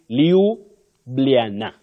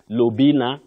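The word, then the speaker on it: Ljubljana: very difficult to pronounce you say Liana Liana not luina Lua and all that Liana that is the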